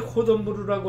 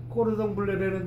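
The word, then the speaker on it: cordon bleu: 우리가 이제 코돈부르라고 하는 것이 이제 그 영국식 발음이고 꼬르동블레라는 뜻이 이제 블루 블루리본.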